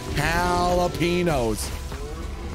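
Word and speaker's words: jalapeños: Jalapenos. You mean jalapenos? This is the correct pronunciation.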